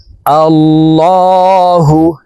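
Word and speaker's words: اللهُ: আল্লাহু এই লামকে ল বলে পড়তে হবে। কারণ আল্লাহ শব্দের আগের হারফে জবর হইলে এই লামকে ল অর্থাৎ মোটা করিয়া পড়িতে হয়।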